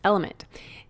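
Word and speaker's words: LMNT: sponsors Ln element it's spelled l MNT but pronounced element if you haven't heard about this element is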